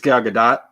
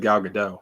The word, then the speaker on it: Gal Gadot: It's Gal Gadot. Gal Gadot. I always said Gal Gadot, so I was wrong.